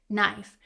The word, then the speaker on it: knife: But knife, the main word here, has a silent K.